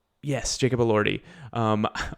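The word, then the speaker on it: Elordi: Yes, Jacob Allorty. Um, all I could think of was Adrien Brody because it basically rhymes with that and I knew that was wrong.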